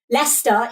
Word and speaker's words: Leicester: Like Leicester is like Leicester. It's like spelled Leicester. But yeah, Gloucester and Gloucestershire looks like Gloucestershire, but it's not.